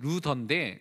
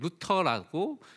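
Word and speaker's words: Luther: 그래서 원래 이름은 루더인데 이제 루터라고, 이제 그 당시의 이름들이 이렇게 지금은 좀 많이 바뀌게 돼서 그렇게 발음합니다.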